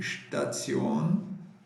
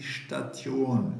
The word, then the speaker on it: Station: Lembrando, né, quando tem esse termo tion, sempre na pronúncia você tem que colocar um S entre o T e o I. Não é die Station, e sim die Station.